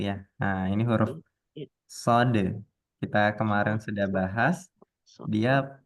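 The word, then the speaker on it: ص: yaitu Sin dirahang tipis Nah kalau Shad dirahang tebal ahah berarti shod itu yang tafkhim ya Bu ya nah jadi kalau ini dibacanya sa sa kalau Sod dibacanya SH Ah coba Ibu mengucapkan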